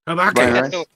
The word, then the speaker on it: Habaki: Habaki.